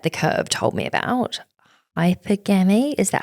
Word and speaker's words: hypergamy: Hypergamy, is that how you say it properly? Hypergamy.